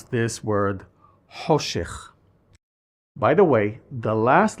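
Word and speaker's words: חושך: I don't want to confuse you, but this letter has always been pronounced the same way we Israelis do now, as a non-guttural sound, ho.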